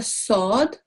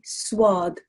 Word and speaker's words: sword: similarly this is a sword if you look underneath there is no wow within it so we don't say swath sword is the correct way of pronouncing it okay now pronunciation